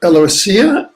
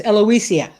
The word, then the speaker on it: Eloisia: i'm here with dr elocia did i did i pronounce it correctly very close eloisia eloisia i didn't have the accent on the right syllable eloisia um and and